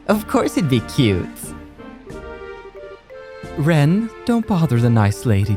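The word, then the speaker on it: Renne: I believe it's pronounced Ren and not Renee.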